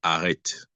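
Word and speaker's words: arete: La vertu ici, c'est le mot grec utilisé, c'est arrête. Bon, après, on peut prononcer ça comme on veut.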